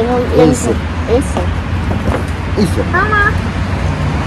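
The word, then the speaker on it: Acer: Аци или как правильно? Я не Эйсер. Эйсер. Эйсер. Мама. Почему Эйсер? Потому что А как Э у них читается. Всегда. А у них как Э читается.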